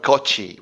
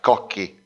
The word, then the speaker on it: Cocchi: I know that in English speaking, my surname is spelled Cocci, but actually in Italian language is more like Cocchi.